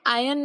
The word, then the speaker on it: iron: यहाँ हमने देखा आयन में आर इज साइलेंट।